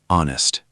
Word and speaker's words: honest: Honest, pronounced honest, silent H.